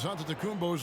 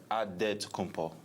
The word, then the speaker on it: Antetokounmpo: the spelling of Giannis Antetokounmpo's last name. He helped set the record straight of how you pronounce it. The Nigerian way, you gotta say it with a D, so it's Antetokounmpo.